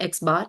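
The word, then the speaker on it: x̄: बार डली है, एंड we pronounce it as that एक्स बार, एंड the other one इज म्यू.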